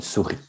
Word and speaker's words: souris: attention souris c'est féminin une souris il y as à la fin mais on ne le prononce pas une souris quand on parle de